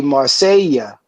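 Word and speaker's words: Marcella: the Spanish out there, since it's two L's, it's Marclla, Biden mispronounced it. It's actually be Marsella, because two L's in Spanish sounds like a Y.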